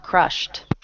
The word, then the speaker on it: crushed: sound good okay Hemma crushed okay the verb Crush ends with SH was considered is uniced uh so we add the T sound to be crushed good